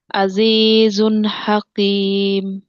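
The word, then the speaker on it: حكيم: আজিজুন হাকিম হাকিম কফের মত উচ্চারণ হয়ে গেছে আবার আজিজুন হাকিম আজিজুন হাকিম আবার আজিজুন হাকিম জায়েদ আপ দিচ্ছেন না বামে আলিফ নাইতো এই কারণে ভুল হইতেছে হাকি হাকি স্বাভাবিক উচ্চারণ এসে পড়তেছে আপুর ভিতরে কাফের মধ্যে বুঝতে পেরেছেন হাকিম আবার মোটা হবে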